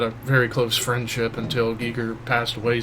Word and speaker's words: Giger: Geiger painting. Celtic Frost. Yeah, the H.R. Geiger painting. Not Geiger. Giger. H.R. Giger, please. Giger. H.R. Giger. Sorry, but it's how his name is pronounced.